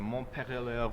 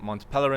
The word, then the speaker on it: Montpellier: It's a Montpellier Society. Is it correct? Oh, good. So actually, it was in Switzerland. So, anyways, we can also stick to the English pronunciation, Montpellier Society.